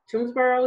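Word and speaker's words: Toomsboro: being on that land um it is in toonsboro is how you pronounce it yeah so i know that you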